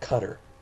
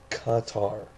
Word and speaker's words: Qatar: spelled Qatar, Qatar, not Qatar like the dumbass from ESPN. It's not Qatar, Qatar, like guitar, but it's Qatar.